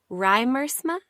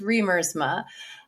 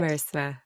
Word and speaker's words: Riemersma: Is it Riemersma? That is so close. Okay. That's what it looks like, how it's spelled, but it's pronounced Riemersma. It's Dutch. Riemersma.